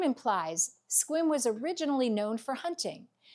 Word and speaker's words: Sequim: The final stop on our tour today is Sequim, Sequim, pronounced Sequim.